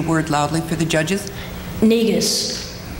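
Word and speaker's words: Negus: loudly for the judges neus one more time neus neus nigas n e g u s nigas absolutely stunned but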